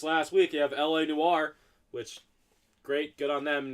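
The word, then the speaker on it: L.A. Noire: Something about LA Noire.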